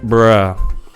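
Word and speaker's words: bruh: resposta bro, punts suspensius, escrit B-R-U-H i pronunciat brr.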